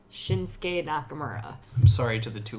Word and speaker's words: Shinsuke Nakamura: we did this because I pronounced his name wrong it's shinsuke Nakamura I'm sorry to the